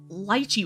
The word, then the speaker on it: lychee: on TikTok, like Asian content creators would call it lychee, so then I started calling it lychee. And then when I started calling it lychee, people kept telling me that litchi was the correct pronunciation and lychee was bad because it sounded like leech.